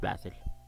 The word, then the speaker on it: Basil: is B basil but in Arabic the name is pronounced Basel next next up